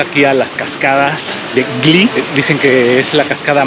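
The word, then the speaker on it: Wli: Esta es la cascada baja de Gli. Es un poco difícil de pronunciar porque es W-L-Y. Gli. Gli.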